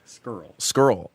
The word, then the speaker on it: Scurll: How do you say it? Scurll. Marty Scurll. Yeah. You always want to throw the R in.